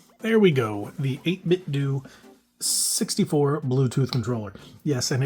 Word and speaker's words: 8BitDo: The 8bit D 64 Bluetooth controller. Yes. And it is pronounced D.